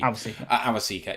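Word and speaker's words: Awosika: Awasika.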